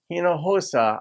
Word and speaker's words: Hinojosa: Latino because it's Tish hinojosa I hope I said that correctly the H and the J are pronounced similarly in Spanish but west side of